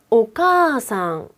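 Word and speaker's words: お母さん: 지금은 장음 역할을 한다는 거거든요 만약에 원래 정확한 발음은 오카상 오카상 인데요 성격이 급해서 그냥 오카상이라고 하지 않고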